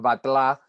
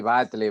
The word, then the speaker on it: Batlle: Es catalán, con lo cual de verdad tiene una pronunciación rarísima que es Batlá, pero Ah, que quiere decir alcalde en catalán, pero sí, Batle, Valle, está perfecto. O sea, ok, todas las acepciones y pronunciaciones son válidas.